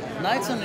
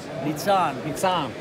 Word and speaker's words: Nitzan: No, Knightson is not phonetically. Phonetically it means I means E, and A means A. Nitzan.